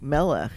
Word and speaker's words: Melech: Like Melech is the first syllable.